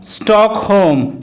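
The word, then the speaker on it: Stockholm: Rule 8, কোনো ওয়ার্ডে এল লেটারটি যদি ও এবং এম এর মাঝখানে থাকে অথবা কোনো ওয়ার্ডে ও এল এম একসাথে থাকলে তখন কিন্তু ওই এল লেটারটির উচ্চারণ সাইলেন্ট হয়।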